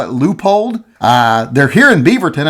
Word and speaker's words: Leupold: people pronounce that differently some people call it a Leopold or a lua poled whatever you call it whatever you want to